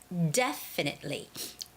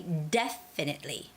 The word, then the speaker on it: definitely: careful with that and the word definitely definitely de has the stress so it's got to be definitely definitely all right definitely definitely